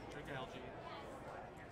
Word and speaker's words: Dragalge: Getting, how do you pronounce that thing's name? Dragalge. Dragalge.